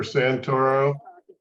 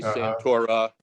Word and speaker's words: Santoro: at the end uh that's a common error for Santoro yes many say santora and spell it that way okay so uh New